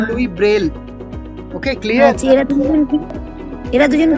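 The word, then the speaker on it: Louis Braille: লুই এটা ফরাসি নাম, আমরা উচ্চারণ করব লুই ব্রেল।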